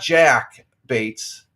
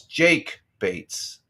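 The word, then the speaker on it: Jake Bates: to play to Detroit it's not Jack Bates it's Jake bats Jake J A not Jack he mispronounced his first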